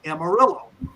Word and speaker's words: Amarillo: they stopped in a town, Amarillo. I'm using the English pronunciation of that.